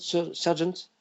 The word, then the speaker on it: Sargent: How do you say Sargent? Sargent? Mm-hmm. Yeah. Yes. John Singer Sargent.